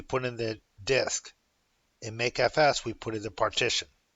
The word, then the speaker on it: mkfs: make FS make filesystem I pronounced to make FS but it's mkfs make filesystem so I'm going to